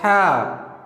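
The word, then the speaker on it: ح: Now, how we can pronounce ha? You have to make sound from your throat. Ha, ha, ha, ha.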